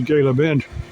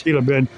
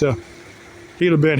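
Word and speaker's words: Gila Bend: He goes, "Yeah, I got to get to Gayla Bend." And he didn't quite get how that G is silent. It's Hila Bend. Now, there was another one. It's Hila Bend.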